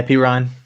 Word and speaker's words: Perine: that how you say his name yeah yeah pery pery okay so between him and perine um you know how do you think your